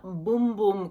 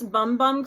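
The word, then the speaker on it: Bum Bum: I purchased the full size of the Brazilian boom boom cream by Sol de Janeiro now I've been pronouncing this bumbum cream and then people keep on commenting and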